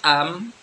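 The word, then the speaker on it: أمّا: Nah, kalau am, makanya di sini terangkan am adapun lafaz am adalah ya juju ayakuna fi'lan madian. Jadi boleh dibaca amma. Ya, ditulis amma tapi bacanya am.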